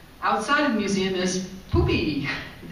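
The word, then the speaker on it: Pupi: Outside of the museum is Poopy. It's puppy, we say, but in Spanish, U is spelled U, so it's Poopy.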